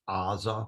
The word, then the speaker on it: Gaza: Also, the word Gaza, I believe in the Old Testament it's pronounced Aza with an Ayin.